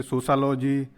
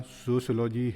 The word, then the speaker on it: sociology: हमें सोशियोलॉजी शब्द के उच्चारण में विशेष सावधानी रखनी चाहिए। छात्र-छात्राएं इसे तृप्त पूर्ण ढंग से सोशलॉजी, सोशलॉजी, सोशियोलॉजी आदि उच्चारित करते हैं। सही उच्चारण सोशियोलॉजी है।